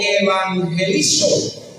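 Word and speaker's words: εὐαγγελίζω: Esa palabra nuevas viene de una palabra griega que se pronuncia algo así como evangelizo o evangelizom, así se pronuncia aproximadamente en el griego.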